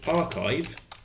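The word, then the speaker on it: arXiv: um I like so archive which is spelled like this um he's coming in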